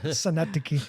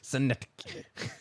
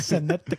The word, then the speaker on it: Synecdoche: Syndicate, New York. Synecdoche. Syndicate. No. Jeez, I don't know why you're making me laugh. It's just the way you pronounced it. Synecdoche.